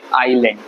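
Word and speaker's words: island: ट्राई किया अब बताता इसको बोलते हैं आईलैंड आई लैंड आईलैंड बोलेंगे इसको आइसलैंड लिखेंगे ठीक तो आई एस तो एस साइलेंट है आइलैंड बोलेंगे बोलेंगे आइलैंड ठीक है आइलैंड तो आइलैंड है और डी साइल नहीं है आइलैंड बोलेंगे आप आइलैंड ठीक है तो इसलिए आइसलैंड नहीं होगा ये तो याद रखिएगा कुछ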